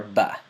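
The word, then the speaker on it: ب: This is the letter ba. One more time, the letter ba. It is pronounced from the lips, so it is a lip letter.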